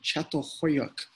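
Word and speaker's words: Çatalhöyük: We're going to talk about the village of Catalhoyuk, is how you say it.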